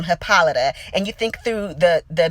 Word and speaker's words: Hippolyta: You think back to even things like Hippolyta, as her name is pronounced in the show, and how it really comes from Hippolyta.